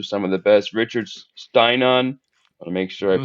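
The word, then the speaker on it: Stiennon: Richard Steinon, want to make sure I pronounce the name right. I'm sure you know that one is Stenan actually.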